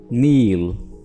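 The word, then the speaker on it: kneel: नील, नील, यहाँ पे के साइलेंट है और नील का मतलब होता है घुटनों के बल, यानी इस तरह की पोजीशन में।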